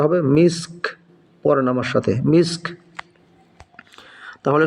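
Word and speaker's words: مسك: হা উল্টা পেশহু খিতামুহু খিতামুহু মিসক মিম সিনজের miss calf যেহেতু এখানে ওয়াকফ করেছি থেমেছি এজন্য কাফটাও সাকিন করে পড়তে হবে উচ্চারণটা হবে মিসক পড়েন আমার সাথে মিসক তাহলে সম্পূর্ণ আয়াতটা কিভাবে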